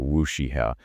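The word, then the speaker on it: WuXi AppTec: But digging into the details of the biosecure act, one company in particular, Wooie appeek that's pronounced a wooshiha became the immediate focal point.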